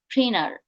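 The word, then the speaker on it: printer: প্রিন্টার, আমরা প্রিন্টার বলি, প্রিন্টার কখনোই হবে না, এখানে হবে প্রিনার, প্রিনার, প্রিনার।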